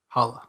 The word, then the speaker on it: challah: Then Challah? Holla. that's how you Challah. pronounce it.